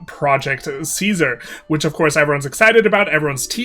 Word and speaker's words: Caesar: So, it's really Project Teaser and if you're a person of culture who knows how to pronounce words, Project Taisar.